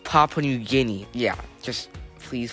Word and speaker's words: Papua New Guinea: In third place is Patwa New Gumia, which has 3142 mm. The answer seems to be correct, but one thing is that it's pronounced Papua New Guinea.